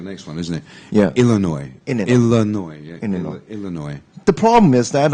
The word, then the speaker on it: Illinois: is near the next one isn't it yeah Illinois Illinois the problem is that um the last um uh song is not pronounced I mean no actually it's not yes